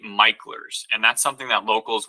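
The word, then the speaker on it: Mickler's: even though it is spelled mickers right it's actually MERS and that's something that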